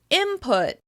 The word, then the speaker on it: input: For example, the word "input" is often pronounced "imput.". The /n/ sound changes into the /m/ sound so that it flows more easily into the /p/ sound: "imput, imput."